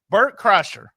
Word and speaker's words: Bert Kreischer: This is from, you're going to laugh when I cannot pronounce his last name. Am I going to say it right? Bert Kreischer.